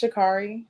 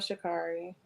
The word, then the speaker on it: Sha'Carri: feel like, do I say her name wrong? Is it Sha'Carri or Sha'Carri? I believe it's Sha'Carri. Sha'Carri Richardson. Sha'Carri Richardson. All right. She stepped on the carpet. Yes. So Sha'Carri. Like I love Sha'Carri as a person.